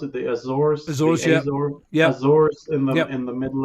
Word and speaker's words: Azores: US and the Azores, is that how you pronounce it? The Azores. Azores, yeah.